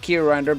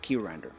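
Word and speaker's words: Qrinder: Q rinder Link again now you have to specifically pronounce it ke rinder because there is another um application called grinder already so that's why you have to pronounce it like ke rinder anyway U looking at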